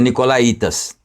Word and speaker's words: nicolaítas: a doutrina dos nicolaitas aqui tem um acento no então a gente pronuncia nicolaítas ou tinham as obras